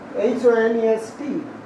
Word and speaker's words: honest: And this word, H-O-N-E-S-T, honest. No, it will be honest. And for this pronunciation, honest, N will be used before honest.